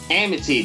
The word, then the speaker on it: Amity: Amity, that's how you pronounce it.